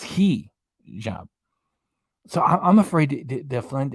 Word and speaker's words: hijab: you so much well I was afraid even to say hijab because I didn't know if I was saying it right in Bali YouTube reactions chicken where's your name belly chicken reaction just told me that it's key job so I'm afraid to